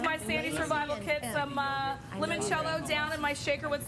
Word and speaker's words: limoncello: Am I saying limoncello correctly, Giada? Am I limoncello? She would add a few more syllables, but I understand you.